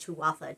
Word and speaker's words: Tuatha: so instead, I went with Danon for Tutha Di Danon. Tuatha, actually it's pronounced Tuatha Di Danon.